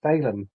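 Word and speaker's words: Caelum: And whether I'm saying Caleum correctly, um I think it's actually pronounced Salem because it's uh it's Latin.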